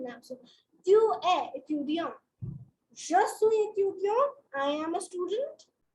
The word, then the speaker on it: je suis: Je suis. In this case, you do not pronounce the S.